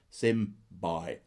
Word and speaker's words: symbiosis: It is pronounced symbiosis.